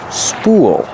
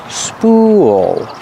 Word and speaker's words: spool: attached to the spool use the long u like pool and cool spool when you connect the ooh to the dark L you make an extra sound spool not spool but spool